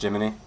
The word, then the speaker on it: Gemini: can use Jiminy it's it's spelled Gemini but it's still pronounced Jiminy to create some light